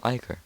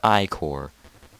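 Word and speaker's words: ichor: a trouble chalice magical Iker that's pronounced I core ok I'm shall fill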